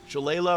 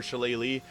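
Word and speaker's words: Shillelagh: in the Druid now so Chala or shalele I get someone call me out on my pronunciation of this every time but both are kind of right uh Thorn whip is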